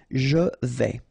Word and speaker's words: vais: Je vais, final S not pronounced here, and remember when you combine this A and E together, you get the sound E, so really open. Je vais.